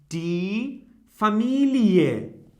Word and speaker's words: Familie: And here we can pronounce it in a different way, like die Familie. Okay? It seems like ie.